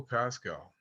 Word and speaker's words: Paschal: Hello, my name is Pascal. You've never seen it spelled this way. It's spelled.